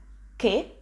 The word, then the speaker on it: che: in a question so we pronounce it ke with a slightly upward intonation which marks it is